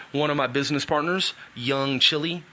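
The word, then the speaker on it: Young Chile: I transferred ownership to one of my business partners, Young Chili. That's C-H-I-L-E, like the country spelling, but not the country chili.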